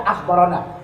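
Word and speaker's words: أخبرنا: Bacaannya memang ana, tapi mesti dibaca akhbarana. Tulisannya ana, bacanya akhbarana. Nah, itu tulisannya na, tapi kita mesti baca akhbarana.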